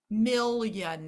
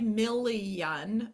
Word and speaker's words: million: does get confusing because let's just look at the word like million now I've got m i l Mill I can hear that really careful really clearly in the first syllable now my second syllable is just Yun though mil Yan again you could slow this down and you could say milliion milliion but that's not how we say the word and so for students